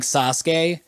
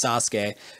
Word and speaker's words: Sasuke: then another unvoiced consonant usually they drop the vowel sound so that there's only one vocal break so a lot of